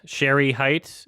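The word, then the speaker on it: Shere Hite: then The Disappearance of share height Sherry height is uh how you pronounce it and uh excuse me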